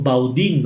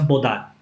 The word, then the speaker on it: Baudin: de esta familia como Baudin. Nosotros lo leemos textualmente, pero me corrigió un hermano espírita muy conocedor que conoce el francés y me corrigió explicándome que se pronuncia Baudin, ¿no?